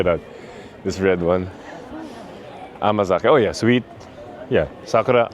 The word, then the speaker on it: amazake: Amazake.